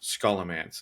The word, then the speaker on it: Scholomance: I believe it's pronounced Scholomance.